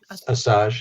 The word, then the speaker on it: Asajj: Asajj, yes. Asajj. It's like massage without the M.